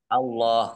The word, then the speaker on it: Allah: Kalau sabilillah itu dibaca tipis. Oh, cara Ini pengucapannya. ya, maksud saya untuk pengucapannya tipis dan tebal atau ringan dan berat ya. Fi sabilillah. Nah, ini tidak dibaca Allah gitu. Tapi kalau misalnya ada minallah, nah ini dibacanya Allah.